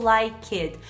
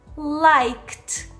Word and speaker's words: liked: Em inglês, para esses verbos, a gente não vai pronunciar nunca worked ou liked.